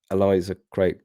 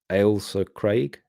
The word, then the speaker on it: Ailsa Craig: If you mean Eliza Craig, it's pronounced Ale Ailsa Craig.